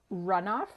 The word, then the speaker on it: Runof: business so we are joined today by runoff and I want to make sure am I pronouncing that correctly or runov everything or runov okay which do you prepare runoff runov runov is how it's originally sound yeah okay there